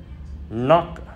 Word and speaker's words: knock: Know là biết, knee là đầu gối, knock là gõ. Thì no, knee, knock ở đây chúng ta hãy quên chữ K đằng trước nó đi nha các bạn.